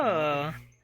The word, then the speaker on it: Penelope: Penelope? Officially, yes, but I never can be bothered with all four Oh, syllables Penny, of it's you.